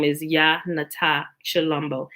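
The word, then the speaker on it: Tshilombo: s h is for it's pronounced chi like chalumbo and also once you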